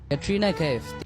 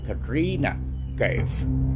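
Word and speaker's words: Katrina Kaif: শুদ্ধ উচ্চারণটা হবে ক্যাটরিনা কাইফ ক্যাটরিনা কাইফ দেখছেন কি সুন্দর একটা মানে একটা শিক্ষিত শিক্ষিত ভাব আছে উচ্চারণটার ভিতর আর এখানে যে র টা ব্যবহার করছে ওইটা কিন্তু পুর এবং সঙ্গে সঙ্গে ওই র টা কিন্তু ডয় শূন্য র হিসেবে ক্যাটরিনা আর এইখানে একাল টান হবে কাটরিনা কাফ হ্যাঁ যাই হোক এইটা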